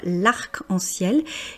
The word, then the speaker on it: arc-en-ciel: Arc puisqu'on prononce bien le C.